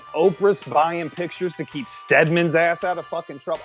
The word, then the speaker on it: Stedman: It's Stedman. It's not, he's not an NFL player. I thought I said his name wrong.